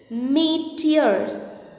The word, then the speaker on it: meteors: It is meteors. Pronounce the word meteors.